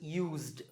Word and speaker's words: used: you a clue, because when we say the word use as a verb, it's use, use. This s becomes z, so use. The past tense form is used, used, d.